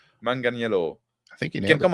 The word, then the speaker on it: Manganiello: John Manganiello. I'm going to say it like that. Manganiello.